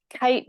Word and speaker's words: KAIT: see that the um kite building so it's spelled k AI t uh from ishigami is